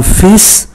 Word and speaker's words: fils: Ngoại trừ un fils là một người con trai, chúng ta phải phát âm chữ S.